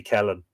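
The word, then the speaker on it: Ceithlionn: know replied Catalan uh Kellen it's it's Kathleen uh c-e-i-t-h-l-i-o-n-n modern pronunciation B would be Kellen the wife of Balor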